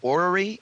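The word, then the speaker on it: orrery: could correctly pronounce this you collect as an ory is that the right pronunciation I do collect ories and one of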